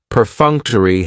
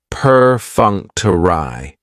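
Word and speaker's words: perfunctory: Prefuncter has four syllables and the stress is on that second syllable, that funk. Peruncturai. That third syllable has the schwah and it's going to end with that long e sound.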